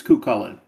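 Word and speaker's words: Cú Chulainn: had to find out and made sure it's Cuchulain. Cuchulain. Cuchulain. Well, then, how do you spell or pronounce the fact that it was given to him by his martial arts teacher, the warrior woman?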